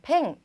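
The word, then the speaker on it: ペン: 펜. 그래서 약간 우리는 한 글자지만 일본어에서는 펜 이렇게 두 글자로 발음을 해 주셔야 합니다.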